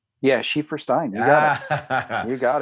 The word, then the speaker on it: Schieferstein: I pronounce it right? Yeah, Schieferstein.